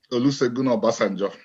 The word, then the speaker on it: Olusegun Obasanjo: wrong, so I'm going to ask you to pronounce the president's name because I'm sure you would say it better. Olusegun Obasanjo.